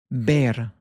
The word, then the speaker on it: ver: The verb to see is bear. Bear. It sounds like the English word bear, but we have a softer be with this bear.